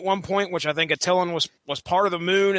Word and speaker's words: Attilan: the Inhumans are at, and I'm going to pronounce this as Attilan. I don't know if you guys are going. No, it's Attilan.